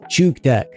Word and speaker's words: Chook Tech: Well, it's pronounced Chook Tech, and it's named after the Chook circuit.